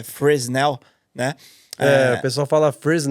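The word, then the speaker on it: Fresnel: era incluso nas luzes muita gente às vezes até chama essas luzes de framell mas na verdade as luzes no Brasil acho que a pronuncia mais aproximada é friesennel né a pessoa fala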